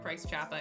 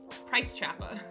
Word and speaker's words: Price Chopper: That's how you know someone's from true New England, if they're familiar with Price Choppa. And if they say it like that. If someone says Price Chopper, they're new. Price Choppa.